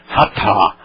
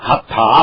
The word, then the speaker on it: Hatha: Então, todo mundo riu, eles não entendiam por que as pessoas estavam rindo, mas pelo menos se pronunciassem direito, Hatha Asana, Hatha Asana.